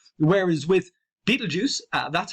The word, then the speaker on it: Betelgeuse: Betelgeuse is very common. Betelgeuse, pronouncing this SE at the end as a Z is very, very common.